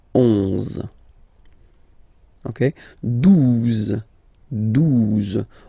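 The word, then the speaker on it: douze: exist phonetically, 11, okay, 12, 12, O, U, the two together will give you the sound OU, okay, and then Z, 12, 12, alright.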